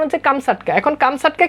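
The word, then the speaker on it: Камчатка: এটার মূল উচ্চারণ কিন্তু আসলে এমন না মূল উচ্চারণ হচ্ছে কামসাটকা ওকে প্রকৃত উচ্চারণ হচ্ছে কামসাটকা এখন কামসাটকা কি কামসাটকা হচ্ছে রাশিয়ার অন্তর্গত সাইবেরিয়ার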